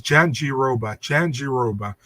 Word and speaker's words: Jandiroba: You know, I also asked Okamura as her manager, and he said the same thing. It's like it's Jandiroba. So he's like, easy to pronounce.